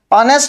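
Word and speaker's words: honest: ऑनेस्ट में H silent होता है, तो हमारा आंसर हो गया ऑप्शन नंबर सी।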